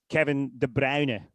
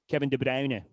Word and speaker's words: Kevin De Bruyne: world in Belgium, then this one is quite hard to say, but it's actually again easier for a Scott than it is for an English person, but it is Kevin de Brown. Kevin de Brown. So you sort of have to take the the and and put your lips together.